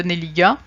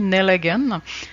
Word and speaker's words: Nelligan: Son père est irlandais, ce qui fait qu'en réalité, on devrait prononcer son nom à l'anglaise, son nom de famille, Nelligan. Or, le jeune Émile va choisir de franciser son nom puisque sa préférence allait à sa mère, canadienne-française d'origine gaspésienne.